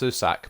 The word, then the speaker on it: Susak: I don't want to pronounce it like that. It's just Susak, but I'm giving it a little bit of an accent, you know.